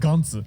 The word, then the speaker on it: Gantz: I mean, in Japanese, it's pronounced Gantz.